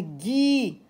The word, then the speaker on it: Guy: si je veux lire Guy je mets un U entre les deux lettres mais je ne prononce pas le U je l'écris mais je